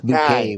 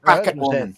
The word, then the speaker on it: Bouquet: She always said, you know, Hyas bouquet was her name. Yeah. But bucket bucket.